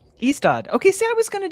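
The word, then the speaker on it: Ystad: My favorite story was the what the how do we pronounce that?" istad. Eastad.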